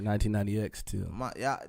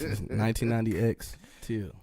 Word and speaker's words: 199xTil: Yes, you gotta pronounce the X. 1990X too.